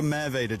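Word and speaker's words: Merwede: Is that, that's the River Merveda, just so I get it right, is it?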